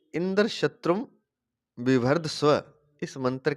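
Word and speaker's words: इन्द्रशत्रु: अतः षष्ठी तत्पुरुष समास वाले इंद्र शत्रु शब्द का उच्चारण अंत्योदात्त होगा, अर्थात अंतिम अक्षर त्रू का उच्चारण उदात्त स्वर से होगा।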